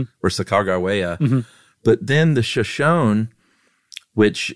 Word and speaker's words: Sacagawea: And not once do they spell that third syllable, G, with a J sound, with a J. It's always a G. Okay. And they think that it was a hard G, so that it's Sacagawea, not Sacagawea.